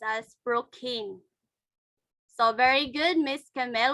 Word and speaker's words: Procne: I guess it's I don't know how to pronounce, but I think it is Procne. Procne. So number 4 is pronounced as Prokin.